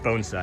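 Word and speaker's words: bonsai: like I myself mistook mistook it for a bonesai, a Japanese bonesai garden, but it is different. It's a It's a penching garden. We all say it wrong. It's bonesai. It's pronounced bonesai.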